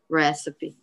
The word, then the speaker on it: recipe: recycle recipe recipe right recipe right because all the other ones you don't actually say the e right ache you don't say the e in barge or engage you don't actually say the e but in recipe you say it yeah when chris child